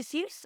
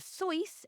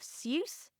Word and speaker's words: Seuss: tetrameter and I don't Dr seus or Dr so his own prudency of the pen name he chose based on his mother's maiden name he actually switched to the angiz pronunciation of seus so that's what I'm